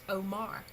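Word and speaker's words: אמר: The aleph, mem, resh that we have here is pronounced omar. If it were spelled aleph, aleph, mem, resh, it would still be pronounced omar. So there's no difference in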